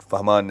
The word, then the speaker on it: Fahmaan: Fahman is the pronunciation.